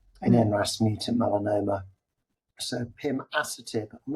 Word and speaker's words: pimasertib: Pima. Oh, okay. Sertib. Yeah. I mean, but you could say Pimasertib if you just want to. It may be academic. Emphasis on the wrong syllable there.